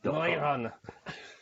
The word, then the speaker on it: NEU: But so actually, that is New Run, NEU. I mean, that's annoying, isn't it? The way they spell that. NEU. Neurun. Neurun. But sounds German.